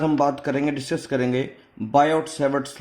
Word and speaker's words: Biot: बात करेंगे, डिस्कस करेंगे बायोट सेवर्ट्स लॉ के बारे में। बायो सेवर्ट्स लॉ, इसमें बोलते हैं BIOT, बायोट। इसको बायोट नहीं बोलेंगे, इसको बायो बोलेंगे, टी इसमें साइलेंट है बेटा।